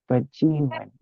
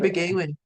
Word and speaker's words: Debwewin: And she brought that name forward, Bajewin or Begawin, like we were saying it wrong at one point. yeah. You got it. We were saying Begawin. Yeah. Yeah, But that's that English version of reading it.